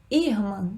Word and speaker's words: irmã: É o ir? Irmã? Não, né? É irmã. A sílaba tônica é o mã.